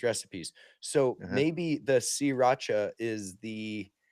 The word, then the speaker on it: Sriracha: sriracha Alright, okay.